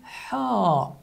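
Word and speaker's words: ح: The difference is that this character is pronounced in pharynx. It is articulated in pharynx with air friction, like this. So it is articulated in pharynx. So it is called ha, ha.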